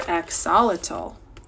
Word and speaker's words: Axolotl: "Dear axolotl, why do you have feathers growing out of your head?"